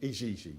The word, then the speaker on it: Igigi: Just as a little aside, the Ijiji, they're spelt I-G-I-G-I. Yeah. And I immediately I don't know why, I kind of eliminated all sorts of possibilities and just went Ijiji. That's how that should be pronounced.